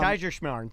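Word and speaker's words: Kaiserschmarrn: Um Kaiser Shamar. Try it. So, uh well I know. Yeah. Yeah. But say Kaiser and then Shimar.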